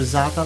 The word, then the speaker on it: za'atar: So now I'm gonna put just a little za'atar on it. Okay, that's the. How do you spell that?